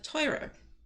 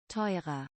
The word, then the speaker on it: teurer: Expensive is teuer, teuer, and then more expensive, teurer. teurer, Teurer.